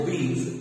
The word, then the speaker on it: obese: वैसे इसका प्रोनाउंसिएशन है ओबीज, OBESE।